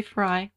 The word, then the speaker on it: Frey: Frey or Frey yeah most people say Frey I think it's right yeah although it's spelled like prey prty so then anyway I'll